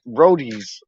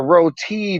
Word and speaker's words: roti: some roadies like brodies no but they say it like roadies like with the d it's not brodies it's like you're the rodeo no it's not roadies at the rodeo it's a roti dark shiny things die